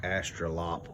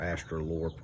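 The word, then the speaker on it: Australorp: And this is my black Astrolop or Astrolorp, however you want to say it. I think it's spelled Lorp, but it just sounds retarded, so I just say Lop.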